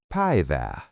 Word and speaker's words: päivää: Now, "Good day" is Hyvää päivää. Mnemonic: Imagine you are Pave-ing the day with gold. Päivää.